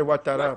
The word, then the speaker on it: Ouattara: S'il vous plaît, c'est Ouattara. Président Ouattara, s'il vous plaît. Chez nous, on ne prononce pas le final. Ouattara, comme on dit Ouattara. Si tu t'appelles Tara, on dit Tat.